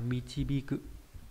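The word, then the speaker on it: 導く: Đạo này đọc là michibiku.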